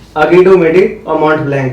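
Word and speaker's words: Aiguille du Midi: इसकी correct pronunciation है अगी डू मिडी, और ये माउंट ब्लैंक।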